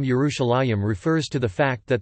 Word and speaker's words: Yerushalayim: However, the pronunciation of the last syllable as a yim appears to be a late development, which had not yet appeared at the time of the Septuagint.